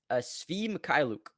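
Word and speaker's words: Svi Mykhailiuk: I don't have a lot of how do you pronounce his name? Svi Mikhailuk.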